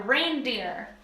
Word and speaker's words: reindeer: not just any deer they're reindeer like rain that's how we pronounce it but not how it's spelled thanks English so those